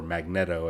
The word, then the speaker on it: Magneto: Brotherhood of evil mutants headed by Magneto or Magneto as it's supposedly that's how you actually pronounce it or the Freedom Force slash Brotherhood